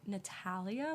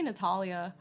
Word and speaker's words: Natalia: don't know me natalia people pronounce my name like natalia which i don't really care um i say natalia but it it kind